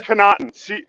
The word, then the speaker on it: Connaughton: all over the place the last name is connaughton c-o-n-a-u-g-h-t-o-n baby all day long so yeah i